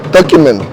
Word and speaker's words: Tocumen: Okay, we learned how do you pronounce it? Tocumen.